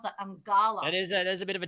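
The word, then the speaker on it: Eungella: Sorry, I couldn't pronounce that. Angala.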